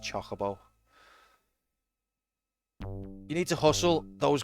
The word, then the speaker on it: Chocobo: by the way guys that's how it's pronounced Chocobo you need to hustle